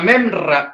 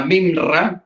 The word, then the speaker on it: memra: El Mesías, o la memra, o la palabra memra, o la mimra, como usted lo quiera decir, hay dos formas de pronunciarlo, la mimra o la memra.